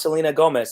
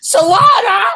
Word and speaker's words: Selena Gomez: There's one they wrote like how to pronounce Selena Gomez, and they're like Solana.